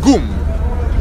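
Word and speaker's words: GUM: in former Soviet Union called the Goom it is spelled G you general Universal magazine right now it is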